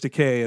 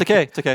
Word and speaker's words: Takei: My theory is that they thought they could get George Takei, and then they did Takei. That's right. And Wait, no, then Takei. Damn it! I said it right the first time, and I doubted myself.